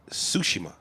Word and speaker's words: Tsushima: Dude, I recently bought this game for PlayStation called Ghosts of Tsushima. And I was pronouncing it Ghosts of Tsushima. But then I was going, wait a minute. You gotta Japanese it. Ghosts of Tsushima.